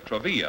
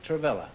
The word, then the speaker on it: Travilla: Martha Mira and Bill Travilla, huh? Does that rhyme with Travilla? gorilla? No, huh? no. Noel pronounced.